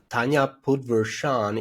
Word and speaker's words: Tanya Podvrsan: LinkedIn, look up Tanya, and Tanya Podvrsan is how you would pronounce it, but you'd spell it Tanya Podvrsan, and they'll be able to find your profile there in France.